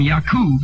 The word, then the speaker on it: Yakub: people and come from yakub is the correct pronunciation what does that say